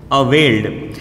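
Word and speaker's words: availed: Law sound आए ना तब आप साउंड निकालिएगा ड। जैसे पुल्ड, कॉल्ड, अवेल्ड।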